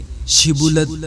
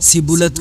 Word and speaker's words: شبولت: اگر وہ جواب دیتا نہیں تو وہ اس سے کہتے شبولت تو بول، تو وہ سبولت کہتا، کیونکہ اس سے اس کا صحیح تلفظ نہیں ہو سکتا تھا۔ تب وہ اسے پکڑ